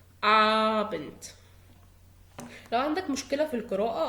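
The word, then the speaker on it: Abend: آبنت مساء. آبنت الساعة 5 كده بالليل شوية. آبنت. بياخد بالي ان الحرف ده ت هو قدامي دي ولكن بتقرا ت. ابنت.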